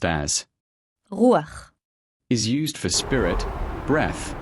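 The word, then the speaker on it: רוּחַ: We will now focus on this feminine Hebrew noun once again pronounced as rûaḥ, which occurs 378 times in the Old Testament.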